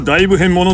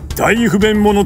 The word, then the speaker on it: 大ふへん者: これは大不変者と読むんじゃない、大不便者と読むんだ。